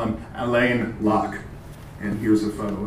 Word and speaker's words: Alain: But he went to France and he liked it there so much that forever after he told people to pronounce his name in the French vein. So we're going to call him Alain Locke.